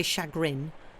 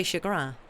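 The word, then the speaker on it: chagrin: English thing you don't we don't say shagrin we say shagra I think I I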